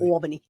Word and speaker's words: Albany: Albany.